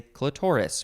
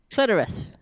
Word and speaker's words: clitoris: of the vulva or clitoris or as some people might say clitoris what's your preference clitoris for me emphasis on the first syllable yeah that's new zealand